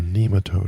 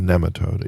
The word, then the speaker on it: nematode: what kind name a nematode or a nematode either way is pronounced correctly so um in all those